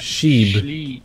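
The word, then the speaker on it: Scheibe: The How do you pronounce Sheibe, that? Sheibe, Sheibe.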